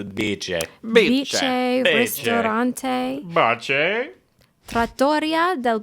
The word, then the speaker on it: Bice: Is it Biche? Yes, I believe we decided yeah. it's not Bice. Okay. It is Biche.